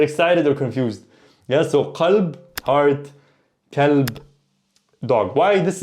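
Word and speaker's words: قلب: Yeah, so qalb, heart, kalb, dog. Why this is a little bit confusing? Because qalb in dialect can be pronounced alb or galb, and in certain places,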